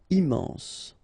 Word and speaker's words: immense: Final E not pronounced. Immense.